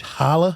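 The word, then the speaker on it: challah: Is that Is that chala? How do you say it? Chala bread. Hala.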